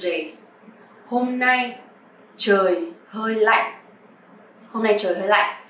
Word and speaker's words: lạnh: But you have to pronounce a little bit strong because this tone is pretty strong and heavy. So like is not lạnh or lạnh, but like. Okay, in sentence.